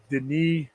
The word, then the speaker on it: Denis: It is pronounced Denis Villeneuve. You know, yeah, I tortured his name. It's French Canadian, and I know I love the guy.